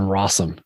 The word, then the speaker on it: Rossum: to kick it to Rossum because his name rhymes with awesome.